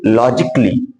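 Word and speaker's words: logically: तो इसको हमको थोड़ा सा का जल्दी से बोलना पड़ेगा, यानी पूरा का नहीं बोलना है, क्योंकि ए का उच्चारण ही नहीं आ रहा है, इसलिए इसको बोलेंगे लॉजिकली, क्रिटिकली, फिजिकली।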